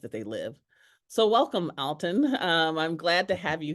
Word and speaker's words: Alton: So welcome, Alton.